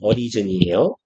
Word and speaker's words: arisen: 그리고 그냥 참고로 얘도 발음은 origin이에요. arisen 아니고.